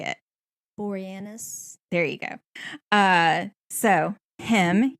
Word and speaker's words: Boreanaz: Boreanaz.